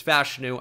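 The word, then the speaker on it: Fashanu: Penn State yes fashion if you disagree on how to say his last name you're disagreeing with him so what do you want to do there it's fashu I promise you and I kind of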